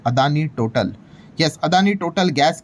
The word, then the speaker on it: Total: तो भाई वो बीच में जो टोटल लिखा हुआ है उसको एक्चुअल में टोटल करके प्रोनाउंस किया जाता है। वो कोई भाई ऐसे ही नाम नहीं है भाई वो फ्रेंच की कम कंपनी है।